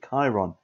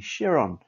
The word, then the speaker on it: Chiron: video uh i named this car incorrectly i pronounced it bugatti chiron it is in fact a bugatti chiron jeremy clarkson told me himself so the bugatti